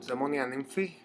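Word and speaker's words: Daemonia Nymphe: It's called Demonia Nymphi. That's how you pronounce it in Greek.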